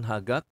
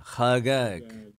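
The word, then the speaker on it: חגג: bukan bukan hagak ya bisa hagak tapi pronunciation-nya itu kagak gitu ya Ini bisa bisa kita dengarkan juga ya ya khagak jadi dia ada h-nya ada k-nya juga gitu ya Ada h-nya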